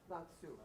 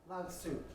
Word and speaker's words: Lao Tzu: And I don't know how to pronounce that Chinese name. Lao Tzu. Thank you. Say it again. Lao Tzu.